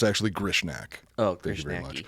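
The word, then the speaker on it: Grishnackh: No, it's actually Grishnak.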